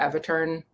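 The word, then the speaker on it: Aeviterne: metal record um is the Avatar record um I don't know if I heard that it's it's spelled a-e-v-i-t-e-r-n-e um but uh it's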